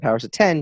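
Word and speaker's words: Powers of X: house of X and powers of 10 just because of how bad the x-men looks ours a 10 no no I actually just read that it's supposed to be pronounced powers of 10 that's stupid no no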